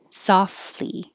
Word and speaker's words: softly: sled status or status softly no t softly you can say eaten